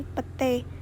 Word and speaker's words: petai: Kata ramai diucapkan rame, petai diucapkan pete. Perubahan ini terjadi pada bunyi vokal rangkap ai ke vokal tunggal e.